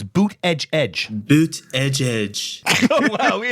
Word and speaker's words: Buttigieg: Boot edge. You know what you call them? Boot edge. That's the way.